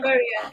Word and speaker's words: Chogoria: the young Chris in I don't know how you pronounce this. Is it Unyeri. Shokogoya Girls High School, Oh, Kenya? Chogoria. Yeah.